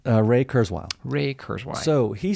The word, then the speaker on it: Kurzweil: sorry how do you say his name ray kurzweil ray kurzweil so he said by in 1990